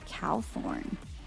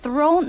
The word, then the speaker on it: Cowthorn: Cowthorn. Cow... Thorn? Throne? No, thorn.